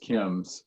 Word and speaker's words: CIMS: CIMS is pronounced KIMS, or Coalition to Improve Maternity Services.